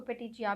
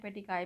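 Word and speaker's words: petechiae: पे ज़्यादा देखे होंगे, इसको पेटिचिया भी बोलते हैं, पेटिकाई भी बोलते हैं। गूगल पे आपको इसकी प्रोनाउंसिएशन पेटिकाई मिलेगी।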